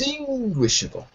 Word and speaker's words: indistinguishable: Indistinguishable. Indistinguishable. Third syllable.